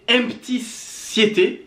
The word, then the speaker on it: Empty7: Alors, l'artiste dont il s'agit, c'est Empty Siete. Exactement. Je vais le prononcer à l'espagnol.